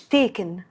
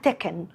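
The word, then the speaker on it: Tekken: رقم 3 تكن، لعبة القتال المشهورة اللي تقريبا كلنا اتربينا واحنا بنلعبها، اسمها مش تيكن، اسمها تكن.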